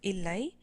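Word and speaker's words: இல்லை: is ama no is illai uh i know that looks like three else but the first letter is an eye so that's elai um hot weather can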